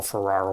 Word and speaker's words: Ferrer: movie and that's Mel Ferrer. Uh, I've also heard it pronounced Mel Ferrar over the years.